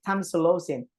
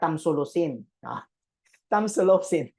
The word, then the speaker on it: tamsulosin: go first you have tamsulosin yeah that's how you that's how you pronounce it tamsulosin not Tams telosin Charing that's the social